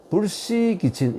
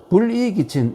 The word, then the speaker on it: 불이기친: 주공이 이 노공에게 말하기를 그러니까 백금에게 말하기를 아들인 백금 군자는 불시기친 이 시락 읽지 않고 이라고 읽습니다. 이때는 불이기친 이라는 것은 뭐냐면 이 글자하고 통용자인데 느슨하게 하다.